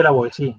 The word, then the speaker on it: La Boétie: que habla Etienne de la Boétie, se dice la Boétie, ¿vale? Que he oído por ahí cada pronunciación que da susto. Es francés y la T seguida de I pues se hace blanda.